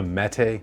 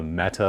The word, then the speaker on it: Mete: a thousand times already it's the mete not the meta like i kept calling it but there's a lot